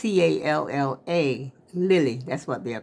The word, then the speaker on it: Calla: I was pronouncing it like it was Spanish. Calle. But it's Calla, lily.